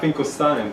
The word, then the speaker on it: Finkelstein: If you're a German, EI is pronounced like I, I-E like E, but my parents pronounced it E like E, Finkelstein, so that's what I do.